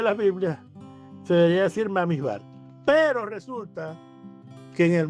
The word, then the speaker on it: Bamidbar: das cuenta, entonces, que los Ashkenazi dicen Bamidbar y los eh Sefardí dicen Bemidbar, con B. Uno con A y otro con B.